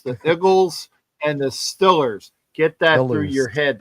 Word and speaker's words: Steelers: It's Stillers. It's the Igles and the Stillers.